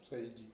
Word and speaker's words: Saeidi: Delrue je suis journaliste pour infoscope euh Saidi je prononce bien Saidi Saidi Saidi Saidi donc bonjour on peut